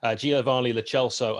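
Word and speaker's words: Giovani Lo Celso: in pretty good stead for several months ahead giovanni lechelso and that is how you pronounce it the 24 year old are currently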